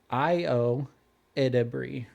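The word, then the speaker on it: Ayo Edebiri: It's Io Edebri. Io Edebri. Okay. Yeah. And I had to write it down phonetically.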